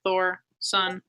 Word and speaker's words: Thorsen: like pronounce or say not the Thorsen's hard because it's really just like Thor son yeah but people would